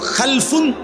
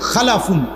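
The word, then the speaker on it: خَلَفٌ: মাঝখানে একটা লাম আছে, এই লামটার মধ্যে যদি সাকিন হয় তাহলে হলো খালফুন, আর যদি লামের মধ্যে জবর হয় তাহলে হলো খালাফুন, আরবি শব্দ।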